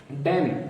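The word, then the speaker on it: damn: एन आ रहा है इसमें हम इन का उच्चारण नहीं कर रहे हैं सीधा डैम पढ़ रहे हैं और डैम का मतलब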